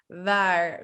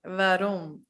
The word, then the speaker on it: waar: They're like waar, wie, wanneer, waarom. So if you notice my lips, it's actually, what happens is that my lower lip touches my teeth and it becomes waar, wie, waarom.